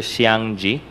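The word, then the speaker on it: Zhiang Je: Miss Ong Familiar po ba kayo kay Mr siang g pwede pakiulit po yung name Siguro hindi po tami yung aking pronunciation pero It's spelled as z h i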